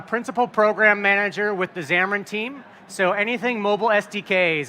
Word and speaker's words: Xamarin: It is pronounced Xamarin.